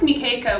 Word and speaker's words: Mekeka: different versions and different interpretations so i chose nikeica which is spelled m-e-k-e-k-a because um about 10 years ago